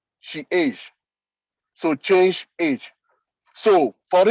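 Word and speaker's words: chage: e c h a g e is is pronounced she age so change age so for instance it that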